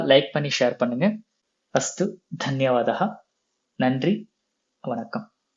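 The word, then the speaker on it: धन्यवादः: சிந்தா master கவலை வேண்டாம் தன்யவாதஹா நன்றி சோ தன்யவாதஹா நன்றி சோ இங்க தா வந்து மகாபிராண தா லாஸ்ட்ல விசர்கா வரும் தன்யவாதஹா நன்றி அப்படின்னு அர்த்தம்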